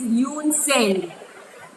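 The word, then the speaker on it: Hiuen Tsang: It is Yoon Seng. Spelling खास देखना. H capital, T capital. T is silent, but we write it like this: H-I-U-E-N, Yoon, T-S-A-N-G, Yoon Seng.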